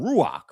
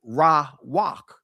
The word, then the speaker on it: Ruach: I know All of All of us have said this at one time, Ruach. In the ancient Hebrew, it's actually Ra- Wak, because you're pronouncing the wa.